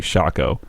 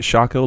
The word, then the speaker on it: Shaco: right well I hope was it Shaco like taco was the argument that I heard I could see that Shaco doesn't make much sense for how it's spelled but yeah just a shaker like Waco you're